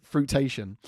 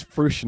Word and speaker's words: fruition: And I said, so we're looking for this to come into fruitation, right? And my mate looked at me, it's fruition, innit, right?